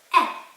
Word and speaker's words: è: He, she, is, lui, lei, è. This is letter E with a little accent on top and is pronounced like an open e.